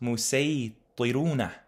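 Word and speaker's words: المسيطرون: That's actually pronounced musaytiruna because of the sin.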